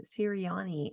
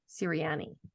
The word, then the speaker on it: Sirianni: And Deidre, I'm so sorry because I think I said your last name Sirianni and I heard you say Sirianni.